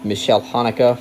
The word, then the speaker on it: Michael Haneke: written and directed by Michael Haneke, or Michelle Haneke, for the people who care a lot about the correct pronunciation.